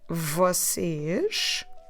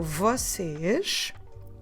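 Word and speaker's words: vocês: do I say that I say the word vasage which is just like the far more singular you but with an S at the end so verses and now our verb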